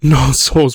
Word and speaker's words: Knossos: I'm not sure if the K is silent, so I say Knossos, but point is, literally,